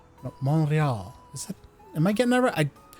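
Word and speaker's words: Montréal: Montreal. Monreal. Is that Am I getting that right? I I'm getting part of her. But you don't pronounce the T.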